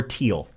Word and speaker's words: Thiel: off they've got Peter is it feel or teal I pronounce it teal but I don't yeah I see you're probably right yeah yeah Peter Thiel he was the father